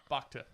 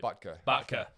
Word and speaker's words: Butker: playing too well, mate, Buckter. Yeah. Buckter. I can't say it properly. Butker.